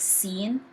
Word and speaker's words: س: Sad, pronounced as deep S, because it's not technically like seen. Seen pronounced as S, but Sad pronounced as a deep S, like so.